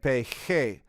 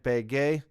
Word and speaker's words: pegué: And you can see the first person would be llegué and pegué. We want that g sound in the first person singular, so we add a u. Llegué, I arrived, and pegué, I hit or I stuck.